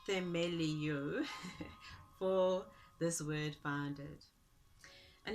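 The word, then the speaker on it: θεμελιόω: And the Greek word, I think, pronounced themelio for this word founded.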